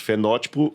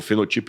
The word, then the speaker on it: fenótipo: Fenótipo e genótipo. Ou fenotipo e genotipo, como alguns pronunciam.